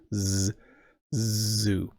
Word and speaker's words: zoo: So like the whistly S sound, Sue, or like a vibrating Z sound, which the Americans call Z, zoo.